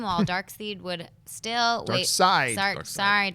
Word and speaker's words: Darkseid: Who would have thought 20 years ago that Thanos would have become a household name while Darkseid would still Darkseid. Darkseid. I know would it's spelled still seed.